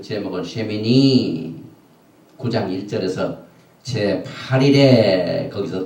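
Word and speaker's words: שְׁמִינִי: 썼는데, 그 제목이 되는 쉐미니는 어떻게 되냐면은 신, 쉬 발음이죠. 그 다음에 맴, 그러니까 쉬미, 맴. 그 다음에 요드, 눈, 요. 그래서 쉐미니 제8일에 그 뜻입니다.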